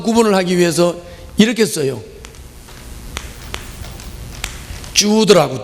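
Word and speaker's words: Jude: 주드라고, 주드. 뭐 이거는 한국 발음으로 유드라고도 하고 뭐 주드라고도 하고, 어떻든 다른 유다다, 가룟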